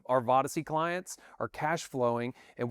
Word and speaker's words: Vodyssey: It's Vodyssey. It's Odyssey with a V at the beginning when you spell it.